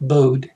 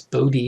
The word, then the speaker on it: Bode: called a bodhi plot it's not bode it's bodhi it's named after a person who pronounced their name that way so these are great